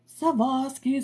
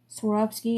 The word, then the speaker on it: Swarovski: be even better right savosky sisters Sikorsky shanotsky sharotsky there's a graphic I got tagged in just a couple days ago and it was like all the ways to not pronounce the word Swarovski and I'm like oh